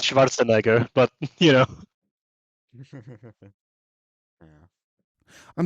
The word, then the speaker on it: Schwarzenegger: where like they said, but everyone can pronounce Schwarzenegger, and it's like, yeah, that's not how it's pronounced, you fucking dingbat. It's pronounced Schwarzenegger, but you know.